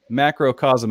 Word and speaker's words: Macrocosm: you're here please clear it up for us macrocosm am i saying that right that's actually correct yeah i've never had anyone really mispronounce it so that's that's i get oh